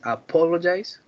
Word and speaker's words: apologize: and the last one the tenth has four syllables is apologize on the second syllable is the stress very well done camilo